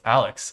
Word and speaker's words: Alyx: Oh, is it not Alyx? Is it Alex? How do you pronounce it? Alex? Alex? Oh, it's Alex.